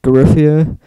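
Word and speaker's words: Giuffria: Brad Gillis from Night Ranger, Craig Goldie from Garifia, that's how you say it, Chris Harger from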